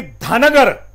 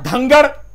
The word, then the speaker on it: धनगर: अब खूबी ये है योगेश जी कि धनगर, इसकी स्पेलिंग जो है DHANGAR होती है, और धंगर जो सोनभद्र की आदिवासी उरांव जो जाति है उसकी एक उपजाति है, इसका भी स्पेलिंग वही होगा।